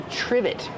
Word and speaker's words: trivet: is a trivet trivet use the short I like this is and the V sound triv trivet it starts with tr so we make the CH sound like chicken together with the r CH trivet this is a